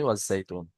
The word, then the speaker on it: والزيتون: جاي تو এবারে শুরু থেকে আয়াত দিয়ে পড়েন, ওয়াত্তিনি ওয়াজ জাইতুন। والتين جاي تو হ্যাঁ, তুনি বললে হবে না, তুন বলে সাকিন করতে হবে, আয়াত এসছে তাই।